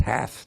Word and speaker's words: have: a difference that that that idiom in English usually is pronounced half not have right I don't I